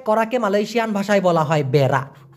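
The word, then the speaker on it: berak: জানি মল ত্যাগ করাকে মালয়েশিয়ান ভাষায় বলা হয় বেড়া বি আর এ কে উচ্চারণটা হবে মনে করেন আপনি টয়লেটে যাবেন হাগু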